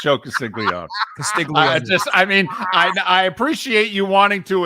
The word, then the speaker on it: Castiglione: I think I butchered Joe that Castiglione, yes. Castiglione, yeah. Okay, no, it's Castiglione.